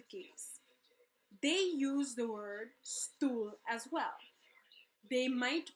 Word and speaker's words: stoel: Instead, they write it S-T-U-L, because the U and the O-E has the same sound.